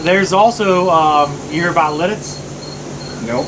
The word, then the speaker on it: Lititz: There's also you hear about Lidditz. Nope. So Lidditz, a lot of people pronounce that Littitz. Seriously. It's French. Lititz. Yeah. So people think it's Littitz instead of Litz.